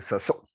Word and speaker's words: Saussure: Saussure, se dice Saussure, ¿no?